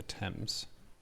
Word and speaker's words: Thames: I think minor correction pronunciation is the Thames. Is it the Thames? The river you're talking about. They go with the French pronunciation, I believe.